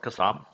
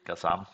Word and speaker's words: KASM: a little bit about kasam or however you wanna pronounce it i'm gonna say kasam for the sake of making it easier so basically as you